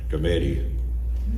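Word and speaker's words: Skrmetti: The name is Committee. It rhymes with spaghetti, the way I remember it.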